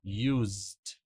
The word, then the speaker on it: used: Vou falar, ó, used. Used. Tá? Dzinho bem suave.